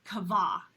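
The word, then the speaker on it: קוה: If you look back at the word wait at the beginning of, again, Psalm 40, verse 1, the Hebrew word is kavah, is I think how it's pronounced.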